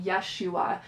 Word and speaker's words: Yeshua: And she refers to him with the more Hebrew pronunciation of his name, Yeshua, and just invoking the name Yeshua and reading these stories.